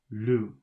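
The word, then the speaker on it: loup: is Lu l-o-u-p but the p is not pronounced it's just Lu do do d-o-u-x do the X is not pronounced 13.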